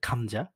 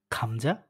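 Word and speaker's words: 감자: গিয়ক যদি শব্দের ১ম এ বসে তাহলে এর উচ্চারণ হবে হচ্ছে খয়ের মতো করে, বাংলা খয়ের মতো।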